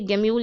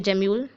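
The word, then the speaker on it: gemmule: और ये गेम्यूल या जेम्यूल हर टीचर अलग अलग तरीके से प्रोनाउंस करते हैं, तो जेम्यूल बोलें या गेम्यूल बोलें, आप कुछ भी बोल सकते हैं।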